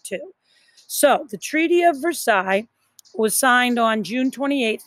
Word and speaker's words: Versailles: That's how you pronounce it, Versailles. Like a sigh, Versailles.